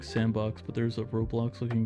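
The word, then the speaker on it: s&box: triggers uhoh executive bound it's pronounced like sandbox but there's a Roblox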